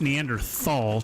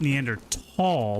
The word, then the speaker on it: Neanderthal: It's not pronounced Neanderthal. T H. It's pronounced Neander tall like T A L L.